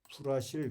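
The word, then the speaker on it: Brasil: 그러니까 브라실 브라실 그래 아 이걸 실로 발음 하더라고요 실로 우리는 질 아 이게 제인 거야 Z 이걸이가 어제로 쓰고 S 쓰죠 브라질을 어떤 때는 이렇게 쓰고 브라질을 또 어떤 때는 브라질을 이렇게어요 이거 실로 발음을 해요 걔들은 우리는 질로 발음하는데 브라질 그래서 못 알아들었어요 제저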